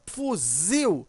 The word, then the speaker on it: fuzil: Quando você pronuncia fuzil, você observa que o zil, né, ele é mais forte.